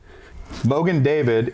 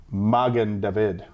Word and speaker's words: Magen David: a lnd opening and mogen David is Yiddish pronunciation of the Hebrew Magen David our next wine is